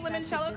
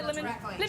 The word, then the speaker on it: limoncello: Am I saying limoncello correctly, Giada? Am I limoncello? She would add a few more syllables, but I understand you.